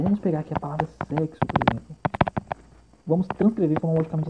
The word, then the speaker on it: sexo: Perceba, vamos pegar aqui a palavra sexo, por exemplo.